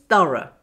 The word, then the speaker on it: thorough: The O-U-G-H sound is, of course, the schwa sound, To get this right, relax the tongue, lips and jaw. Now say this. The only difference is is long and is very short and has very little energy.